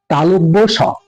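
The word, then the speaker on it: তালব্য শ: যে বর্ণটি দেখতে পাচ্ছেন এটার নাম আমি বলতাম তালভ আপনারা কি বলতেন জানিনা তবে আমি বলতাম তালব স আসলে এর নামটা ভালো করে উচ্চারণ করলে হয় তালব্য স তালব্য স আর এখন যে সটাকে দেখতে পাচ্ছেন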